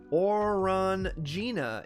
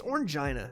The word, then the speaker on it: Orangina: the rest of that or run Gina is the French pronunciation don't get me that it's orangeina stop or until there you